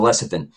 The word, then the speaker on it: lecithin: then yeah I was I know the H is there I was just pronouncing it without you know route sounding the age so lecithin and from what I